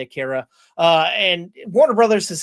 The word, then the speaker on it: Akira: anime film Aara, Akura, whatever you want to pronounce it. I say Akira.